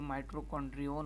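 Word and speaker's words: mitochondrion: माइटोकॉन्ड्रिया, इसको singular इसकी pronunciation जो होगी वो माइटोकॉन्ड्रियन होगी।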